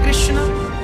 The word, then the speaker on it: कृष्ण: हां वेद मंत्र है यह शुद्ध उच्चारण इसका क्या है हरे राम हरे राम राम राम हरे हरे हरे कृष्ण हरे कृष्ण कृष्ण कृष्ण हरे हरे कौन सा मंत्र जप